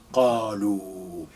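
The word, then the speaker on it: قالوا: Qalu. This alif, you don't pronounce it.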